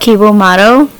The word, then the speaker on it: Cibo Matto: I think it's called Ciba Matto. And they have an album. Which album do I like? So it's spelled Cibo Matto.